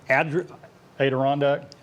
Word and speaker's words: Adirondack: many stories uh those advent how do you pronounce that randy we're not from upper new york adirondack adirondack okay so they they went and got